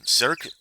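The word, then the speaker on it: Cirque: I think it's um cir it's it's French pronunciation.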